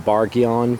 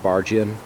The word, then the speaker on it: Bargeon: anybody else out loud you could say uh bargheon possibly but i always pronounce it bargian it's french after all